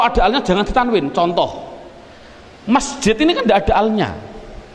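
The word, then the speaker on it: مسجد: Adapun depan ada tulisan mim sim jim dal, bacanya apa? Masji. Mengapa kok dibaca masji? Mbok dibaca misijid saja. Inilah perubahan depan, itu namanya sorof.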